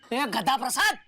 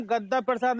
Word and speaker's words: गद्दा प्रसाद: गधा प्रसाद। देखिए हमारा नाम गद्दा प्रसाद है। गधा प्रसाद नहीं। कृपया कर नाम का उच्चारण सही करें।